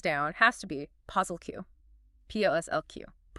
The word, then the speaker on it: POSSLQ: p o s s l q Pronounced posslq.